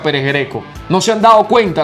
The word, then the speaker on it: Pérez Greco: deportivo táchira pérez greco se escribe pérez greco no se dice pérez grego no está en cancha pérez greco no se han dado